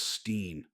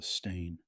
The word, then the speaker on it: stain: Everyone remembers it as Steen, because Steen is a more common suffix. Right. Nobody wants to read about bears with a stain.